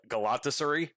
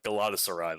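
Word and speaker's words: Galatasaray: By the way, I I never realized how ridiculous I was pronouncing Galadosurai. Uh, I was pronouncing it G Galatasureri or Galataseri or something like that. Little did I know it was uh Galatasurai the whole time.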